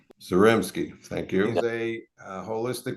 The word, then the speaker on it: Zaremski: today I have Dr Eric zaminski is that correct pronunciation the Reps game zarimski thank you he's a